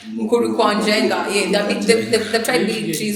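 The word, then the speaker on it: Mukuru kwa Njenga: They build trees in Kamukuru Wanjenga. Have I said it right? Mukuru Kwanjenga.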